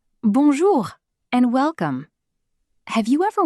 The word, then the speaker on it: bonjour: The most important greeting is bonjour. Pronunciation?